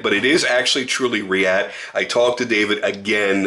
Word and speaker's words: Reate: it he's like no you were right its react react that's that's that's how you pronounce it so from here on out rillette